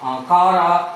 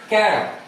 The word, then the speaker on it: Chara: And the name Chara will pronounce as different in manner as Chara, Kara as well as Chara. So most of the people will pronounce as Chara.